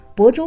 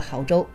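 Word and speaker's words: 亳州: 安徽举行了 2018 亳州国际马拉松比赛，当时央视体育频道主播把亳州读成了濠州，亳州网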